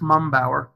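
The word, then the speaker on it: Mumpower: to pronounce my name it's just mumbower m okay thank you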